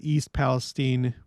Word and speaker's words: East Palestine: And then this up here is the East Palestine. That's how it's pronounced locally.